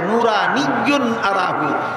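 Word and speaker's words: نورانيٌّ أراه: শব্দটার উচ্চারণ 2 ভাবে হয়। একভাবে হয় নূরুন আন্না আরাহু, আর একভাবে উচ্চারণ হয় নূরানিয়্যুন আরাহু।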